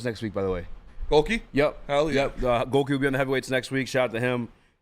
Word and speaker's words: Gohlke: Goki?